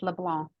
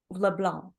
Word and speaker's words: LeBlanc: is LeBlanc we we don't pronounce the C though do we in LeBlanc it's LeBlanc LeBlanc because it's French right